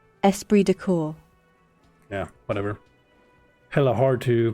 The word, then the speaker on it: esprit de corps: such a weird thing like why why is there a p in an s in Corpse Esprit de corps yeah whatever hella hard